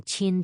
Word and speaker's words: Qin: Q, as in the Qin dynasty, is pronounced like the CH in cheese.